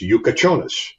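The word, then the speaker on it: Jakučionis: Yakachonis. Yeah. And I have a tough time calling it Yakachonis because it's spelled way differently. And then I look at the phonetic pronunciation. It's Yukachonis.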